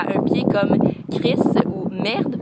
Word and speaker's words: merde: Donc, admettons un juron à un pied comme Chris ou merde, parce qu'on prononce pas le E, ben ça c'est une petite frustration.